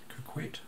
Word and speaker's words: coquette: Is that how you pronounce that? Coquette. There you go.